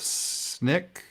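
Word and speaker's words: Snyk: of DevOps and he is currently he's with snick is how you say it's Nick probably let's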